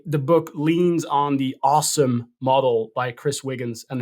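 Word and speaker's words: OSEMN: no it's a so it's a os emn which you could pronounce as awesome where each letter stands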